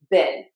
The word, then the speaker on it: been: b e n b been. we will pronounce the word be e a an bean and those two words are going to be pronounced the same in British English.